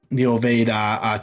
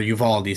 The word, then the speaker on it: Uvalde: Like, even when Bungie will tweet like about like the Buffalo shooting that happened, or the Ovade, Texas, or Uvalde, sorry, that's how you pronounce it, shooting that happened.